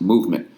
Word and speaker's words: MVMT: MVMT watches, pronounced movement, was founded on the belief that style shouldn't break the bank.